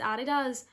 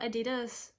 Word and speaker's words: adidas: no y there just say Mike and it's a DDoS not adidas so I'm gonna be like heavy breathers like